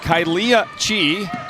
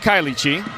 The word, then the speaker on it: Kylia: whoever you're texting with, but Kylia Chi, not Kylie Chi. Kylia Chi, I was spelled K-Y-L-I-E in the book, and I did my